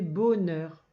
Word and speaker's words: bonheur: Alors déjà, il y a un H muet. Et quand on voit O et N, on ne dit pas on. Il faut couper comme ça. B, O, bo, n, e, r, neur. Ça fait bonheur.